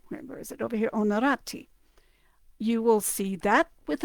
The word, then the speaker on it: Onorati: H, but understand that you just drop the H. It starts with an O. All right, so H is used really as kind of a silent letter in both languages, or in both cases.